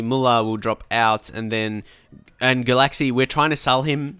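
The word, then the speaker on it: Gulácsi: Muller will drop out, and Galaxy, we're trying to sell him. So actually, I think it's pronounced Galachi. Is that right? I think I heard that somewhere before.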